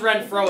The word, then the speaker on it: Renfrew: re NF r NW Radford read throw it's pronounced Renfro it looks like it would be fun it's